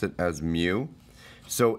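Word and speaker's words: mu: this little U is me U is we pronounce it as Mew so it's micrometers um and uh Mew is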